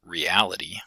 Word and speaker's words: reality: So we have words like realize with stress on the first syllable, but reality with stress on the second syllable.